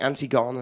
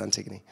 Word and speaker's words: Antigone: So everyone's going Antigone, and I'm like, it's spelt Antigone, but it's Antigone.